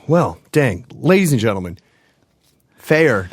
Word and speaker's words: Feyer: dang ladies and gentlemen fair check it out f ey er what's your insta handle